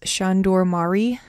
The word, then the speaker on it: Sándor Márai: embers and again the author's name is shandor mari that's a very rough pronunciation but that's what it sounded like to me as i listened to some pronunciations online three things to know